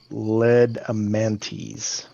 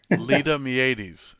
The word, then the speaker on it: Ledamiades: What else can you tell us about Hedon Ledamantes? Helen. That was almost the right pronunciation. Ledamiades. Ledamiades. M-I-A. Not much. I was only off by one letter on my phonetic spelling.